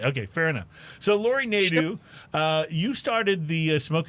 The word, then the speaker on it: Nadeau: your last name right it's lori nadew is that right neither nedu okay the emphasis on net okay fair enough so lori nadu uh you started the